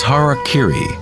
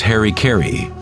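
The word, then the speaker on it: hara-kiri: one form of ritual suicide or seppuku was har Kiri was often mispronounced as Harry kry it means to impale one's Hara thereby cutting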